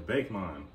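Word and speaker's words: Bakemon: didn't watch this and pronounce it correctly it was always bake mine no it's not bake I know it looks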